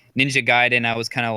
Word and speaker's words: Ninja Gaiden: Ninja Gaiden.